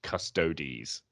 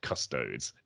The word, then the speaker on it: Custodes: incidentally i have to say it is actually pronounced custodies not custodes and i really hate when people like get